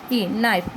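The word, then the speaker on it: knife: रही है, इसलिए क्योंकि यहाँ K जो है हम लोगों का साइलेंट वर्ड है। अब इसको हम लोग क्या पढ़ते हैं, K हटा देंगे तो ये नाइफ हो जाता है, और इसमें K लगाने पर ये भी नाइफ ही होता है क्योंकि ये साइलेंट है।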